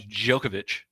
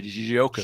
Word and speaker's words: Djokovic: I think that's just like Novak Djokovic. Yeah. You know, there's kind of a Djokovic.